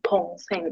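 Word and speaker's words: 동생: lo que es yo, la pronunciación, como ya saben, ligeramente cambia por el hecho de estar al inicio y suena más como un tong sen, como si fuera como una pequeña P al inicio. En cambio, cuando está la palabra completa con la sílaba adelante, suena como una D.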